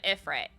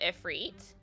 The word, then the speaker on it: Ifrit: So as a kid, I called him Ifrit instead of Ifrit. But then hearing it pronounced Ifrit in the game, super valid.